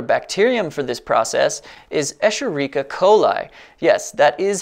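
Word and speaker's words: Escherichia coli: bioethanol a popular bacterium for this process is esherica coli yes that is how it is pronounced e coli is easy to engineer prolific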